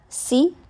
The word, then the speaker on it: Si: Si, pronounced like sir, with a slow exhale, which is associated with the lungs.